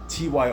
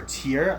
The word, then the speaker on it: Tyr: Turn Idol, Headless Cross, TYR or Tier. I've heard people pronounce it both ways.